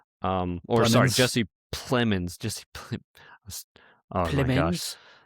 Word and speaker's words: Plemons: obviously it has Emma Stone and Jesse Pinkman, or sorry, Plemons.